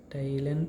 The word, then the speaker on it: teilen: So again E and I combination is present here, so it becomes E and I gives rise to the sound of I, right? So TILEN, Thailand, it becomes the word pronunciation of this word becomes Thailand.